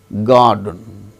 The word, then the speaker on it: garden: Girl, garden, GARDEN. So, R is followed by the sound D in the word garden.